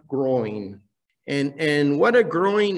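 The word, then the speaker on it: groyne: come across it before i understand that it's pronounced groin and and what a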